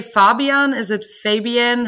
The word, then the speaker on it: Fabian: Is it Fabian? How would you like me Fabian to pronounce it? Perfect. Fabian.